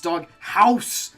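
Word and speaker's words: Dog Haus: It's Dog House, because it's H-A-U-S.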